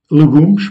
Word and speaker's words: legumes: Des légumes se disent légumes, legumes, pardon, des légumes, legumes, ou encore des œufs brouillés.